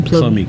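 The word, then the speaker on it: plomeek: Yes, that is the pronunciation, pomeek soup. Your pronunciation is fairly good.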